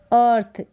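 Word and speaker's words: earth: book फिर ये है अर्थ ई ए को यहां पर जो है अ पढ़ रहे हैं तो इसका कोई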